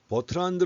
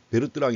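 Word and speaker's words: Bertrand: 또 한 가지가 있습니다 버트란드 라고 나오는데 이거 영어식 발음이 줘 버트란드 그는 아직도 미시 경제학 교과서 보게 되면 베르 뜨랑 이라고 쓴 책도 많이 있습니다 i 지금 이 사람도 프랑스 사람이에요 프랑스 사람이기 때문에 베르 뜨락 이라고 합니다 그런데 영어식으로 해서 뭐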